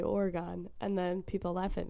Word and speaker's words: Oregon: that was right yeah it's not though it's Oregon that's what I was saying and everybody was like it's not like the trail this is I think it is so I always say Oregon and then people laugh at me but like